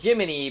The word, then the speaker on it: Gemini: Weirdly enough though, um they they pronounce it Jiminy, but it's spelled Gemini.